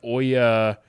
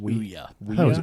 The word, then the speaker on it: Ouya: game that Dragon cancer how did you say that console Oya weya Oya Oya I always heard it pronounced Ouya Ouya yeah Ouya whatever it was all the journalists pronounced it Uya it was a failure